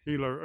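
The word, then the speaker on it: Gila: I'm at the Hila River with a G, but it's pronounced Hila.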